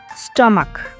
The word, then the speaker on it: stomach: not es s example stomach here c h sounds like K so we need to